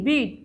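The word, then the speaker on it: bit: যেমন কি ইংরেজিতে বিআইটি, ইংরেজিতে শব্দ যেমন বিআইটি এর উচ্চারণ হচ্ছে কি বিট, আবার বিইএটি এটা হচ্ছে উচ্চারণ কি বিট। প্রথম শব্দের ই ধ্বনিটা হচ্ছে হ্রস্ব, আর দ্বিতীয় শব্দের ই হচ্ছে কি দীর্ঘ, এবং এই দুই স্বর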